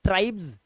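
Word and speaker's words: tribes: जनजातियां बोलते हैं तो इसका लास्ट में जो उच्चारण होता है ना वो होता है ट्राइब्स आपको एस नहीं सुनाई देगा आपको ज का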